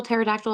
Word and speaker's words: pterodactyl: sorry can anyone spell pterodactyl off the car real quick uh PT e no like nearly b a c t l y l at the end I always forget there's a silent P yeah it's PT e